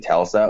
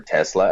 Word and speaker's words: Telsa: Yeah, they see military, Yeah, they see at least, Yeah, and one of them is Captain Telsa, or Tesla, as he called her at first.